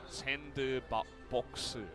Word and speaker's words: SANDBOX: Their name actually has 4 syllables in Korean. SANDBOX. So, not the 2 you would expect in English, which is a sandbox, right?